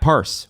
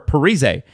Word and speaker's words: Parise: 38-year-old, and they used to say his name wrong in the video games, Zach Parse, or Parise for the rest of us.